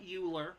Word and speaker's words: Euler: think it should be it's not Euler like ruler its Euler you got a bit of an accent to it but if this is Euler's formula Euler was a fantastic mathematician